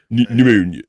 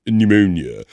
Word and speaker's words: pneumonia: say the P it's the p is silent pneumonia pneumonia a Bobby Nick prepare